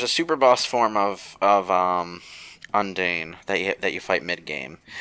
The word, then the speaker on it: Undine: I mean, I knew Undine is the correct pronunciation, but I'm not sure if that's how Undertale wants you to pronounce it.